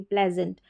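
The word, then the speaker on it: pleasant: पी एल ई एस ए एन टी प्लेजेंट।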